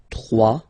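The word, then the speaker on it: trois: 3. Final S not pronounced. 3.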